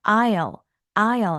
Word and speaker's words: aisle: 네, 통로, aisle 이렇게 발음이 되고 s가 소리가 없습니다. And passed all the cashiers.